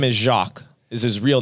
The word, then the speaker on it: Jacques: I remember growing up, we'd answer the phone and they'd be like, Jacquees?